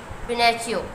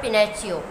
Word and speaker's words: Pinocchio: पिनेचियो, ठीक है, PINOCCHIO।